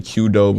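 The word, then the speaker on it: Qdoba: four times a week how do you say it quordoba quordoba yeah that's how I say it some people say Coba that's what I say Coba yeah I don't really like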